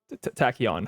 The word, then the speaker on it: Tachyon: pinged and I realize I've actually mispronounced his name his name is tachyon my bad yeah it's it's a what it's a particle you know in like physics it's a particle you know like a cork and a tachyon Cipher